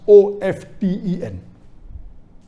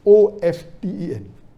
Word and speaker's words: often: saying often is correct T is not silent it should be pronounced some said tips and